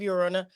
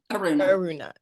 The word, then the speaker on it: Aruna: you have when of Ura I always pronounce that wrong is Aruna ARA Aruna okay so you got book